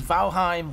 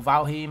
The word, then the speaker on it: Valheim: are not playing fifa this is valheim or valhem however you want to pronounce the name of the game